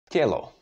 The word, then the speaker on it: Tělo: Now we know that that is t and s háčkem, so we have to change this t into tě. How would you say that? Tělo.